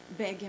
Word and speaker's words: Bakardjieva: What is Bakardjieva Mama? I'll talk about it. I'll pronounce it the way it's pronounced in Bulgarian.